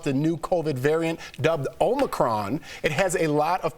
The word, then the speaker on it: Omicron: Kohli, talk to us more about Omicron. First, am I pronouncing that right?